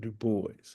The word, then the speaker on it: Du Bois: Du Bois, William Edward Burghardt Du Bois, never pronounced Du DuBois, or the many other pronunciations people give him.